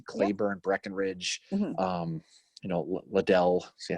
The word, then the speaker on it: Liddell: big names obviously claiborne breckenridge um you know liddell see i said it right that time yes